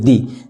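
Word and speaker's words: the: এই ভাওয়েল দ্বারা যদি শুরু হয় তাহলে ঠিক তার পূর্বে যদি আমাদের এই টিএস ই শব্দটা থাকে তাহলে সেইটার উচ্চারণ হবে দি এই হচ্ছে আমাদের বেসিক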